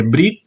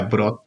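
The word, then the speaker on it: Bryde: La ballena de Brit o de Brod, se pronuncia Brod en verdad, o Edeni, o ballena de Eden.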